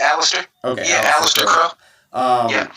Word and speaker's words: Aleister: How was that working with like Aleister Crow or how did I pronounce it right? I think I might have pronounced his first name wrong, but Aleister No, Crow. you said it right, Alistair.